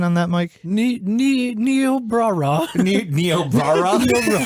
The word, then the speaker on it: Niobrara: had disrupted the local programming what was the pronunciation on that, Mike? Niobrara. Niobrara? Niobrara.